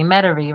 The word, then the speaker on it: Metairie: uh oh you told me say it correctly Metairie right ready the ball's teaching me how to